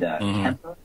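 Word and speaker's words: Cemper: That's SEO Moz and Kemper, which is spelled with a C, C-E-M-P-E-R.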